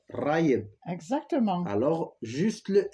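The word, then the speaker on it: غايب: Et ne roulez pas le R, parce que si vous roulez le R, ça veut dire le yaourt. Raïb.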